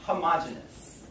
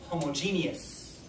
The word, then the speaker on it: homogeneous: me homogeneous homogeneous homogeneous oh there's two pronunciations some people say homogeneous and they will spell it with an extra e here so you will see it spelled two different ways I'm sorry English is